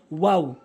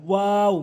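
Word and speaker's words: واو: এরপরে ওয়াও ওয়াও ভুল উচ্চারণ, ওয়াও ভুল উচ্চারণ, সঠিক উচ্চারণ হচ্ছে ওয়াও। মুখের খালি জায়গা হতে উচ্চারণ করবেন, ওয়াও ওয়াও ওয়াও এভাবে উচ্চারণ করবেন।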